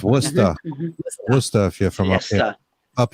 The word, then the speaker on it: Worcester: of leicester up here we have worcester and it looks like it's work hester but it's worcester here from up here